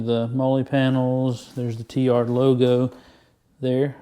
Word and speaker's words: TLYARD: There's the T-Yard logo there. It's T-L-Y-A-R-D, but pronounced T-Yard.